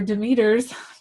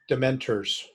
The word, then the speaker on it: dementor: our shows and if those uh dimitars or demeters forget how to pronounce it um knew anything about astronomy then they would know dementors the mentors thank you yes dementors um if